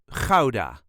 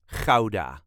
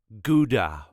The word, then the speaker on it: Gouda: way us duchies say Kaa not guda or GAA that sounds very silly to us so K there is a very slight emphasis on the first syllable da da all the